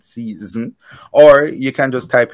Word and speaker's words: szn: stream it even though it's not spelled season it's spelled s-z-n-s-z-n young people call It season or you can just